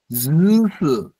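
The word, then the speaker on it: ジュース: এরপর জুসু, দেখেন জুসু, জুসু এটা হচ্ছে জু লম্বা টান হাইফেন লম্বা উচ্চারণ হবে জুসু মানে জুস কে বলা হয় জুসু।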